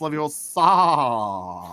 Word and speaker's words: Leviosa: That's not how you pronounce Latin. How dare you? I'd be trolling them if I was them. It's pronounced Leviosa.